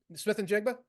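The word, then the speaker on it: Smith-Njigba: Smith and Jigba is playing. I can't pronounce his name. You hit it. Smith and Jigba?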